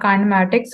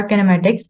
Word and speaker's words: kinematics: Today we are going to study about काइनेमैटिक्स और किनेमैटिक्स। इसकी दो प्रोनाउंसिएशंस हैं हमारे पास।